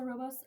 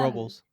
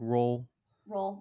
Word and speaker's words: Robles: You're in Atascadero, Atascadero, Pass Robles, Los Paso Robos. Okay, Paso Robos. Um, Robles, Robles, yeah, like roll bowls, bowls. roll bowls.